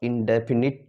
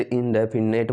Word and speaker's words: indefinite: देखिए प्यारे दोस्तों, मैंने लिखा पास्ट इंडेफिनिट टेंस। इस वर्ड पे फोकस करना, नेट नहीं होता, बहुत से इंडेफिनेट बोल देते हैं। ये क्या होता है आपका इंडेफिनिट होता है।